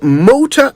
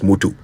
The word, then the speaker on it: Moto: settles it at last the words are motor and Moto no such thing as Motu not if you're saying it right all right let's do